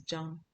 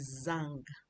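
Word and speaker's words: Zhang: The Z H A N G in Chinese that is jam. The pronunciation of that name is jam. But any Nigerian that sees that name calls it Zang.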